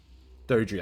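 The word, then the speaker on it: Doedre: Dodri, that's how you pronounce its name.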